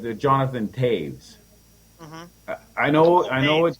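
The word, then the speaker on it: Jonathan Toews: you but it's the Jonathan Taves I know I know it it's not spelled like that but that's how it's pronounced it's Jonathan Taves yeah right but he's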